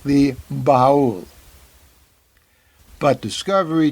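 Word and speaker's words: Ba'ul: The Baul, the predator species on Saru's world, is pronounced by most of the crew, including Saru, who should know just the way it's spelled. B-A''UL, Baul. But at least one crew member refers to the species as the bowel.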